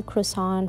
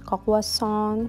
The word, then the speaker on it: croissant: snack called malto and it was like mini croissant filled with nutella i was so obsessed with them it was like my childhood and we actually pronounced it in french kawasan kawasan it took me a minute to know how